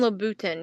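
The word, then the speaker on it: Louboutin: that whole tote of playmob for $25 Christian labutin yes that's how you say it have you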